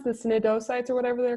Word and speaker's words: cnidocytes: And they have the how do you pronounce the cnidocytes or whatever they're called? Cnidocytes. I think most of the C's are just silent.